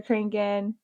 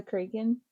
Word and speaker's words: Kraken: But like mermaids, the cranking, vampires, the what? The Kraken, like the big octopus squid thingy. Kraken.